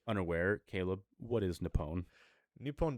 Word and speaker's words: Nippon: Nippon desu is the correct way to say Japan, because you are technically saying the Portuguese word for Japan when you say Japan. In the native tongue of Japanese, it is called Nippon.